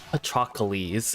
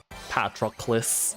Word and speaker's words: Patroclus: I was gonna say Patrocles, and I'm like, that's not at all what his name is spelled like, though.